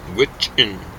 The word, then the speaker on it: Gwich'in: Yeah, Gwich'in. Gwich'in is kind of how you say it. Or Okay. Kuchin was the old-fashioned name for it.